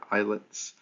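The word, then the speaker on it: islets: clusters of cells called isets right so the S is silent there eyelets are islands little islands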